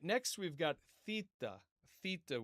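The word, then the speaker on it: θῆτα: Theta with a th like in the word thing.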